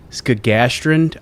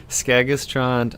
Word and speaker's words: Skagaströnd: And I hope I'm pronouncing this right. Skagaströnd, Ireland? No. It's Skagaströnd, Iceland.